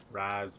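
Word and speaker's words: Ra's: r or Raz right it's pronounced like Raz bro right Ras mataz it's pronounced r as if the apostrophe was an i it's like Arabic right ran forever featuring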